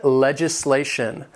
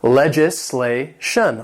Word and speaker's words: legislation: Number 15, legislation. This has 4 syllables and the stress is on that third syllable. Legislation.